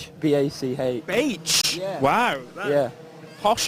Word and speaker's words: Bach: They're saying Batch. Is it what? How do we say your name? Bach. B-A-C-H.